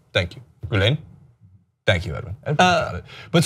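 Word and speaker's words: Gülen: of kar's affiliation with g I think I'm pronouncing that right um gulan thank you gulen thank you edin it but so my point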